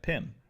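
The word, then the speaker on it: Pym: And I'm going to save the double mask side on the Pim particles. There you go, I pronounced it right. Pim.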